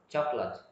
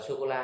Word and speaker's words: chocolate: Chữ cơ ấy, ở giữa đọc lướt luôn ha, đọc nhỏ thôi. Chocolate. Chocolate. Đừng đọc là sô-cô-la ha.